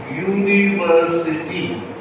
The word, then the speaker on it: university: So according to this rule you will use and but notice how you pronounce university. It is actually yo u or yu. It is a consonant right?